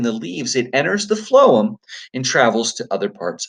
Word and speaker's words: phloem: your vocabulary words and it sounds like an F instead of a pH it's that pH makes an F sound so it's called phloem and phloem is the